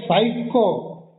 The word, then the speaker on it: psycho: I am that P in the word psycho. Has to be there in the spelling, not in pronunciation.